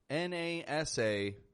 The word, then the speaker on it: NASA: And I'm here to tell you, my friend, we use a wide A, the ah, instead.